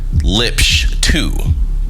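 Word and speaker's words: libssh2: It's called, here we go, LIBSH2. And this is spelled LIBSSH with the number 2. Now stay with me because this matters. LIBSH2 is a little open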